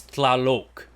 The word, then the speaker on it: Tlaloc: I believe the true way to say it is TLALOC. Like local or locust at the end instead of the lock that everybody keeps using.